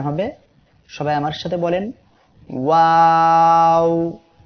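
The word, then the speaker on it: واو: সবাই আমার সাথে বলেন ওয়াও। এই অক্ষরটি 2 ঠোঁট এইভাবে গোল করিয়া উচ্চারিত হবে।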